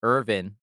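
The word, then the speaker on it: Erwin: Like, so I don't know if like for like example they pronounce Irvin instead of Irwin, even though it's spelled with a W.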